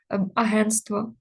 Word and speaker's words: агентство: контраст контрастний баласт баластний Тобто ми можливо не завжди вимовляємо цю приголосну агентство контрастний але ми її пишемо і теж в давальному